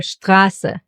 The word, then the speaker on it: Strasse: And in the combination with the letter P, it gets pronounced as Shpa. Like in Stift, Stuhl, Sprechen, or Strasse.